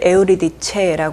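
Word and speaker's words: Euridice: 오르페우스의 아내의 이름이 에우리디케 그런데 이제 그 그리스어를 여기서는 그냥 이탈리아어 식으로 읽어서 어 오르페우스를 오르페오 하고요 이탈리아로 그리고 에우리디케를 에우리디체 합니다 발음만 약간 달라졌고 같은 인물이에요 그래서 어이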